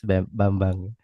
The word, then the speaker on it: Bambang: bang bang ma yes the way to pronounce my name it is bambang okay IU haranas thank